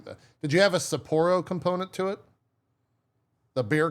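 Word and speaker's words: Sapporo: For this one, they were like, do not mispronounce yote. Oh, it's saporro, not sappero or like they were like you have to pronounce this correctly.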